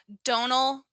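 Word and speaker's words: Domhnall: you pronounce his name Donal gleon officially Donal silent M Don yeah silent M and silent h you always forget about the H yeah it's yeah one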